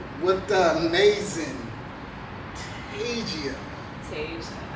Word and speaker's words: Tasia: Tasia. Oh, I'm saying it wrong. Like Asia, but with the T in front. Okay.